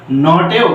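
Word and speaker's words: knot: তেও কিন্তু কে এন টা নো এর মতন উচ্চারণ হয়েছে আবার নটেও কে এন টা নো এর মতন উচ্চারণ হয়েছে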